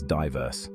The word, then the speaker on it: diverse: that's a diverse Garden we pronounce it as diverse with the emphasis on the first syllable you can use it